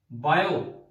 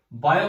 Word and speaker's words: Biot: बीएसएल की full form, ये scientist के नाम है, बायो, टी साइलेंट होता है भाई, बायो बोलते हैं बस इसे।